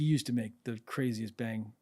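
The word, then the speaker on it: bhang: the drink that they make on the the pronounce bang bang b b h a n g yeah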